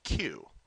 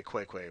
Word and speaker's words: queue: Okay, Q UE. I know it's spelled funny. It sometimes looks wrong and every time you spell it, you will probably think you're spelling it wrong. Uh, for a while at least. Quue u a Q. Um, don't say quiquay, please. Qui or quiquay.